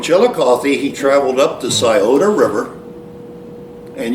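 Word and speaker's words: Scioto: he traveled up the sioda river and you might hear it pronounced skiato but he traveled up the sioda river till it met the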